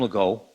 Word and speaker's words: Legault: My name is Legault. Thanks, Paul, for pronouncing it correctly.